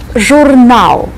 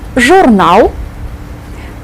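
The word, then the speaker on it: журнал: contain this character Jal joural a magazine Jal think of the English word Journal joural and if you are writing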